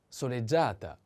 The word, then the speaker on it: soleggiata: One more adjective, this one, soleggiato, soleggiato, or the feminine form, soleggiata, soleggiata, soleggiata. The accent is on A.